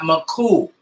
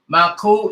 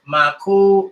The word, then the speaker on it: Nuskqu: Today, the title Nuskqu is mispronounced as Maku or Maiko.